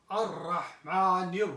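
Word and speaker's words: الرحمن: When the harf is shamsi, it means that when the alif lam is added in that word, the lam is not pronounced.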